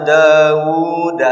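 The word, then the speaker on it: داوُدَ: Walhasil berarti bacanya sama harus ada madnya. Cek bahasa tajwid mad tabi'i. Yaitu terdiri dari dua ketukan. Makanya saya baca tadi begini Pak. Walaqad ataina Dauda. Nah itu kan. Dauda. Ada madnya.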